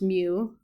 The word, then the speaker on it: mu: Okay, so that's pronounced mu.